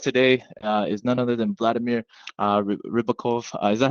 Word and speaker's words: Vladimir Ribakov: Our guest today is none other than Vladimir Ribakov.